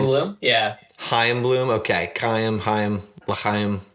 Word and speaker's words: Chaim: Chaim, there we go. I got it. I think the C is silent.